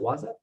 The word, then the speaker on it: Wasa Media: Let's talk about Wasa Media for a second. Am I saying it right? Is it Waza? That's correct. It's Wasa Media.